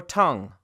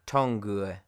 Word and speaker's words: tongue: Now the letter U is silent sometimes when it comes before a G, like guess, colleagues, guitar, not guitar, or tongue, not tongue.